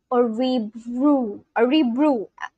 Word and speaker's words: Örebro: Örebro. Am I butchering the pronunciation?